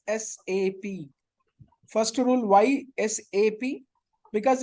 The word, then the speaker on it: SAP: It's SAP. First rule, why SAP? Because it's not SAP, whatever we are calling, it's not a word, it's a abbreviation. Words only we will combine and we will pronounce it.